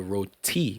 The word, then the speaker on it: roti: So it's roti. Yeah, so you have to put. You gotta emphasize the T. T on it.